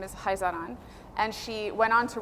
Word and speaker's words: Khazaran: particular pattern is called Haan so it's KH but it's pronounced with a guttural h pronounce it however you